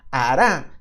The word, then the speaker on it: hará: que confía en mí hará tiene un acento en la última hará lo mismo que